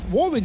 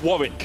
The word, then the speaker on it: Warwick: to lock in this Warwick, which he does. Because in England, there's a place called Warwick. Warwick. And it's spelled exactly the same.